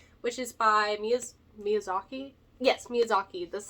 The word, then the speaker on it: Miyazaki: Yes, Miyazaki.